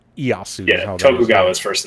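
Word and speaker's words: Ieyasu: this what easu is that who it was like to name easu is all it is it's i e Yu it's iosu tokuga is first name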